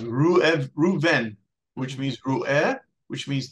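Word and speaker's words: ראובן: Now, you won't see this in your English letters, but the tribe of Reuben in Hebrew is actually, well, first of all, it's pronounced Reuven, which means Ru'eh, which means to see, Ben, to see the difference.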